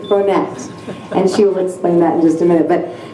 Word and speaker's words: Bronette: Her name is Bronette. Many of you might think that, oh, Storm, you're pronouncing that wrong, as I often do many words, but it's not Bronet, it's Bronette.